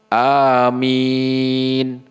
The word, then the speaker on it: Amin: seperti membaca Yasin dan mimnya enggak ditasdid enggak ya bukan bacanya ammin bukan nah itu namanya mimnya ditasydid ya tetap tapi apa enggak diasdid yaitu langsung Amin begitu Bukan Amin bukan nah ini bukan ya seperti itu tapi langsung Amin nah kurang lebih seperti